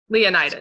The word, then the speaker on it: Leonidas: Leonidas.